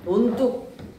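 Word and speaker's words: 논둑: 논뚝 발음 어떻게 하지? 논뚝 하고 발음이 나지.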